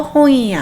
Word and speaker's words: 本屋: 이럴 때 야 앞에 응 발음 조심하라고 제가 말씀드렸는데 혀를 붙이지 마시고요. 콧소리를 내서 홍이야 하시면 됩니다.